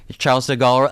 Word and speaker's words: Charles de Gaulle: I'm not sure I'm pronouncing the name right. De but- Gaulle, maybe? Charles de Gaulle? Okay. Charles de Gaulle.